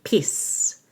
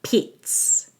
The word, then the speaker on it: Pete's: Make sure there's a held T in Pete's so that you're not saying peace, but Pete's.